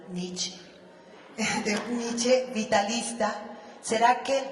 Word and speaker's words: Nietzsche: de un nich cona que pronunci la e al final nietche nietche vitalista será que